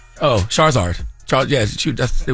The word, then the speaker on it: Charizard: it Charizard Charizard oh that's what it would pronounced oh Charizard Char yeah you that's they would call me